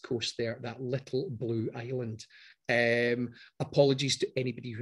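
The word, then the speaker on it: Islay: on the west coast there that little blue island um apologies to anybody who has named their child that and then has uh pronounced the name differently in scots it's isla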